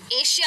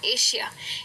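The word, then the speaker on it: Asia: अब कई लोग एशिया कहते हैं इसको, ये वर्ड को कई लोग श में कहते हैं, एशिया। एशिया इंडिया में बहुत होता है, गलत प्रोनाउंसिएशन है, इसको कहना चाहिए एशिया। सही प्रोनाउंसिएशन है एशिया।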